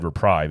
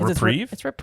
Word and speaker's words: reprieve: be a nice reprieve I said reprive and Jamie told me I said it wrong it's well I was right it's reprieve okay either way I